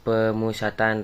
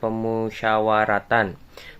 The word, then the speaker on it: pemusyawaratan: Nah, untuk yang pertama, Majelis Pemusatan Rakyat. Kata yang salah ini pemusatan di menit 0051. Nah, untuk seharusnya adalah pemusyawaratan.